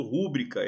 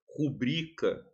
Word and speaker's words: rubrica: Por exemplo, eu vejo muita gente falando rúbrica errado, certo? É rubrica.